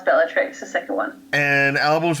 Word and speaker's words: Bellatrix: Well, I pronounce it Bellatrix. Okay, that's what I was going to go with. Yeah, it's Latin, so I'm not a Latin